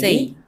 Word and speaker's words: say: আগে বলতাম সে, এখন বলবো আমরা সেই। Say.